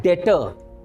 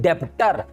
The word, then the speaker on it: debtor: इसी से बनता है डेटर, DEBTOR, राइट, जिसको लोग कह देते हैं डेप्टर। It's never be डेप्टर, इट्स डेटर।